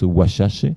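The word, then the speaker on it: Wazhazhe: Et il y a un lien historique entre les Indiens Osages, Wasazé, ça veut dire, en fait ça se prononce Washache, et ce sont les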